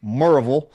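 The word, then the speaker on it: Maryville: So, the very first place they started attending public school was in a city called Mville, Tennessee, pronounced by the Tennessee people, Moraveville, just south of Knoxville.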